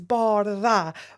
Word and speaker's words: Bardha: And I loved when I saw the promo of Love is Blind Season 2 and he said Bardha, I was like, I love that for her.